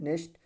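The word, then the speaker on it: knock: नियम यन से पहले आया के हमेशा क्या होता है? साइलेंट होता है। जैसे यन से पहले क्या आया? के आया तो क्या साइलेंट हो जाएगा? क्या हो जाएगा? नो, नॉलेज, नॉक, ठीक है, क्योंकि सब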